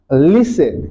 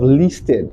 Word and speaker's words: listen: sound T for example take this word that word is pronounced as listen instead of listed okay so even though we have the letter T there the sound T is not present okay we have other